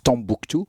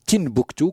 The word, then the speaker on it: Timbuktu: Et Timbukti par rapport à la ville où il habitait, qui s'appelle Timbuktu, même si aujourd'hui on la prononce Tombouctou. C'est Timbuktu, comme Tinrir, Tinjdad, Tindouf.